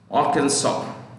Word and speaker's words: Arkansas: Round Rock, Arkansas. The last S is silent usually. Arkansas.